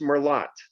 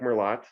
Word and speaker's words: merlot: more lot i like merlot you laugh laugh laugh right uh it's not pronounced more lot we know that it's pronounced merlot but we say that french word very easily merlot not merlot but if